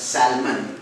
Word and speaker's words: salmon: the foot one a fish which is be pronounced as Salman and the spelling is stltom moving but the